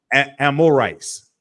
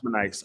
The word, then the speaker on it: Amorite: I can't hold on spell it again y Yar a m o r i t amorites Amorite yes not amonites okay what you got